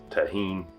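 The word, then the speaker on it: Tajín: and you don't have, I think the actual right way to say it's Tajin. We call it Tajin around here.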